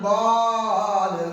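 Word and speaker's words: ضاد: সদ অক্ষরের উপরে এক ফোঁটা, তার নাম বদ, তার নাম বদ। বদ উচ্চারণ কেমন হবে? বদ বাম পাশের মাড়ির দাঁতের গোড়া হতে মোটা ভাবে আদায় হবে।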